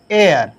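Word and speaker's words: heir: पढ़ रहे हैं, तो उच्चारण भी हमारा जो प्रोनाउंसिएशन है ना आ की तरह हो रहा है। इसी तरह आपका है एयर, ECHIR, एयर, तो यहाँ पे एन एयर, एयर में तो उत्तराधिकारी होता है।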